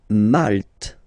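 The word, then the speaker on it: Malte: E okay sheep okay malt same thing here you don't insist on the final uh malt malt remember you get this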